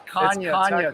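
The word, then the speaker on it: Canha: yesterday last name oh oh it's Kanye technically yeah yeah so the NH is like the Anya in Spanish nice we said Canada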